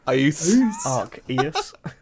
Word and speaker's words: Arceus: I believe the C is silent. It's Arceus. Arceus.